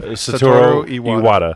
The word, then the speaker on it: Satoru Iwata: Satoru Iwata. Iwata. Yeah, Fun fact, it's really hard to mess up Japanese words because it's a phonetic language. yeah. You just read it how it's spelled.